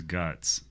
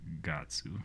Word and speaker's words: Guts: His name is Guts, Okay. but like in Japanese it's Gatsu.